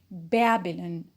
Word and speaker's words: Babylon: look for the stress the stress is on bear on the first syllable so we say babylon babylon so we put